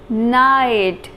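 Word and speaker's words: knight: The pronunciation of this word is night. In this word, K is silent.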